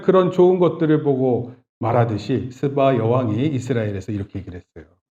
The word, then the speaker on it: 스바: 스바 여왕이라고 있어요. 좀 조심해야 돼, 발음. 스바.